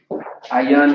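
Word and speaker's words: עין: Ayan is how you say I in Hebrew.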